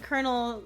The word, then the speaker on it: colonel: Colonel and Colonel are said the same because reasons.